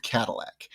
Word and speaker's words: Cadillac: in 1701, a gentleman by the name of Cadillac. And yes, I'm going to pronounce it that way because that's how it's pronounced currently.